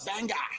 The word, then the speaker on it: Bangor: were going, like, yeah, we're going to Bangor. He's like, no, it's Bangor. Yeah, Bangor. He's like, you gotta say it like Bangor.